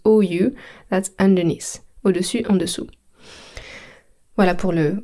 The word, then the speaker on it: au-dessus: à l'envers, upside down, au-dessus, means on the top, en dessous, underneath. Phonetically, I know it's very tricky, so I'm going to say it again. Au-dessus, so I end with the letter U, au-dessus means on the top,